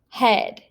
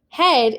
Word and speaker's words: head: ea says something different for example in the word head head is spelled with an e a but in this vowel team it is not saying e it is just making that e sound like an elephant so that would be